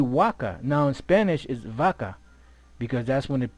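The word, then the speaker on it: vacca: Waka. See, Waka. see, waka. Now in Spanish is vaca, because that's when the pronunciation changed. But the classic Latin, Waka. so there's no V.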